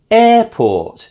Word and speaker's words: airport: Airport is also stressed on the first syllable.